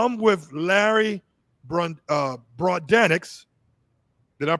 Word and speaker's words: Brodanex: So, I'm with Larry Br uh Broadenics. Did I pronounce it correct? Broadnecks.